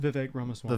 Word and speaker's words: Vivek Ramaswamy: Vivek Ramaswamy.